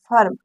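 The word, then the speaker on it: firm: आई आर एम फर्म इसको पढ़ेंगे फर्म फर्म मतलब होता है खेत इसको फिल्म नहीं पढ़ेंगे इसको अ पढ़ेंगे क्योंकि इसके जस्ट बाद तुरंत आर आया है इसीलिए इस आई का उच्चारण हम क्या करेंगे आ करेंगे क्योंकि ये रूल काम कर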